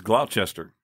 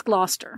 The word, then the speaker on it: Gloucester: do you say that think it's Glouchester no I think it's Gloucester GL at least that's how at least that's how they say it New England I'm not